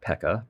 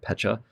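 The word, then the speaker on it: Pecha: a mythical Pacha Berry I found out I've been mispronouncing that for my whole life not Pekka Pacha so it it's just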